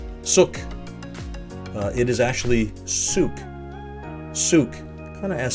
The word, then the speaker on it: Sooke: uh in the chosen this is uh often pronounced suk suk it is actually suk souk kind of as spelled i guess souk so